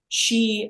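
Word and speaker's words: 嘻: body and it's pronounced she as in as in a female she she and oh yeah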